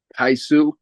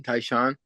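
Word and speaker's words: Tai Shan: Taisu, Taishan. Taishan.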